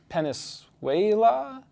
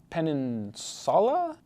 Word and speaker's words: peninsula: high time you learned how to say the word peninsula because as i've learned from doing almost 10 years of reading assessments most of you can't penisuela pen peninsula this is what happens